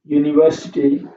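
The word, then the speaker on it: universe: है ही है European यूनिवर्सिटी ठीक है ये लिखा हुआ है यूनिवर्सिटी और यूनिवर्स भी होता है यूनिवर्स इसमें भी क्या बोलेंगे हम य बोलेंगे तो इससे पहले हमेशा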